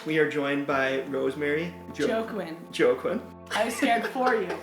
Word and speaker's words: Joaquin: Yes, it's Joaquin.